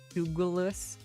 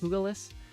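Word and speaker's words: Iron Jugulis: High Dragon called iron Douglas in Spanish you pronounce that like an H the J like an H oogleless I don't know dark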